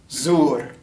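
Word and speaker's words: زر: So the way you say this is zur, zur.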